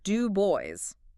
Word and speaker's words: Du Bois: It's do boys with the emphasis on that last syllable.